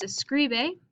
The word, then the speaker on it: escribe: So here, if I think what's my accent or what's my stressed syllable, it's going to be scri. Escri. Oh, it might even have the S. Escri. Escribe. So my second to last syllable has a stress according to the rule.